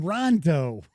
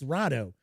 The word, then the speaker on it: Rado: Rado, because I always call him Rondo, because I don't really pay that much attention, but it's Rado.